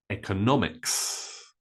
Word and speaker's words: economics: way both are correct however be careful we say the economy economy that's a different word so the stress is different so economy but economics so when you change the form of the word like economical economy Economist then sometimes the stress changes the next one is